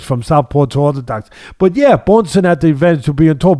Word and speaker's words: Bjornsson: Am I pronouncing it right? Yeah. I think that Bjornsson showed the edge there.